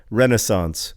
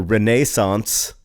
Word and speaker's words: Renaissance: you pronounce Renaissance, and he says Renaissance or Renaissance. And ever since then, whenever I hear the word Renaissance, I insist on saying, Renaissance is also an acceptable pronunciation.